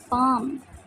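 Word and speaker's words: palm: plant पौदा plant पौदा पाम यहां पे L silent है पाम हथेली पाम हथेली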